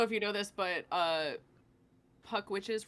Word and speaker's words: Puck Witches: Alec, I don't know if you know this, but Puck Witches rhymes with fuck bitches.